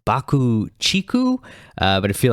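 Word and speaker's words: BUCK-TICK: on it it's a remix of iconoclasm from bucktix 1989 lp taboo uh apparently their name is actually pronounced bakuchiku but i feel like it would be kind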